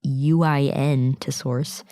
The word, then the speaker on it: Uintosaurus: They include Collodon, Morosaurus, and Untosaurus. I'm not totally sure how to pronounce that. It's Uintosaurus.